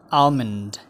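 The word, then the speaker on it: almond: आल्मन्ड, आल्मन्डको L silent हुन्छ, यसलाई हामी आल्मन्ड होइन आल्मन्ड भन्छौँ। आल्मन्ड। आल्मन्ड।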